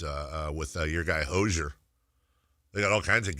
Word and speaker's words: Hozier: whole album is uh with uh your guy Hozier. They got all kinds of guest appear I'm telling you. It's pronounced Hozier.